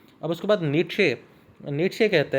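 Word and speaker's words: Nietzsche: उसके बाद शॉपेनहॉर और नीट्शे, ये दोनों लोग जो हैं, इसको हम शॉपेनहॉर प्रोनाउंस करेंगे और नीचे वाले को नीट्शे।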